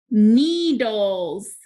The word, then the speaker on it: needles: Needles. Needles. That S is making the Z sound.